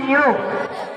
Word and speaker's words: knew: KNEW, new. Silent letter K.